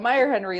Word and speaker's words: Meierhenry: And also Meierhenry live from Colorado.